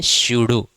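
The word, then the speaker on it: pseudo: तो सूडो force नाम है शडो। पी से शुरू होता है। पी साइलेंट होता है।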